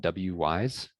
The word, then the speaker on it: Wwise: The big one is called WWise. It's basically wise, but spelled with two W's.